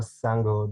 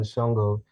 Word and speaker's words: Sango: of the sango coin i believe it's actually pronounced more sango than chongo and i do believe